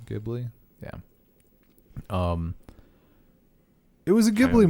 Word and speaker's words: Ghibli: The studio fuck, what's the actual pronunciation? Ghibli.